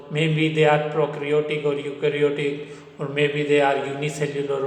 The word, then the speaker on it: eukaryotic: Prokaryotic, prokaryotic, eukaryotic, eukaryotic. E is silent, okay, and eukaryotic E is silent.